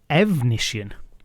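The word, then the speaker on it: Efnisien: Evnisien, bad brother. One syllable difference at the start of the name.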